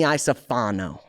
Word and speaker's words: Iacofano: Raimee Iacofano.